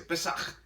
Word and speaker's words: Pesaj: Y entonces la palabra hebrea para Pascua es la palabra Pesaj. Así se escribe, así se dice, Pesaj.